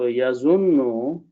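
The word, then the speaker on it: يظنون: So when we put a ya in the beginning and pronounce as yazunno, because two noons will bring this shabda in there. So yazunno, that's the word in the Quran.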